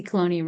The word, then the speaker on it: Cloney: My name is Cloney, rhymes with Tony, owner and operator of Cloney Works since 2008.